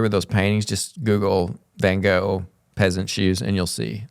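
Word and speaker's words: Van Gogh: go of peasants shoes I have a Dutch friend who's told me I should pronounce it van H but I'm not going to do that because I'll feel pretentious so I'm just going to say van go all right heer's thinking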